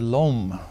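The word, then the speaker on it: l'homme: apostrophe h o m m I call it Lum it seems like Lum to me but people who perhaps no French better than I do say I should have said LOM but in any case that's what it means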